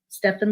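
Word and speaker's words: Stephen: levine and it's spelled it's steph like steppen stefan levine healing into life and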